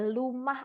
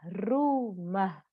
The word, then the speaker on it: rumah: Ada anak-anak yang kadang masih mengatakan rumah itu sebagai lumah ataupun yumah. Nah, maka kita harus memberikan contoh pelafalan yang baik dan benar, ya. rumah, rumah, seperti itu.